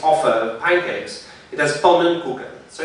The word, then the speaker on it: pannenkoeken: of pancakes, it has pannenkoeken. So it's a little bit silly and uncomfortable what's happening. The pronunciation has a linking schwa.